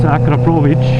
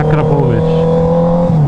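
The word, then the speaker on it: Akrapovič: It's Akrapovic. Yeah, Akrapovic, with a hard R and CH sound at the end.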